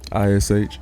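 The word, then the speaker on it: Ishmaiah: it's out the Bible it's out the Bible spell it i s h m a i h say it one more time ish like Jeremiah ish where's the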